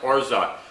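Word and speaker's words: orgeat: r g a g e a but it's pronounced orza and this goes into so many different Tiki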